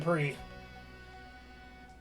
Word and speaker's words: Prix: I mean, Prix. Remember, don't pronounce the X.